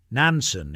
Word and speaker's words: Nansen: Nansen is how the Japanese say his name.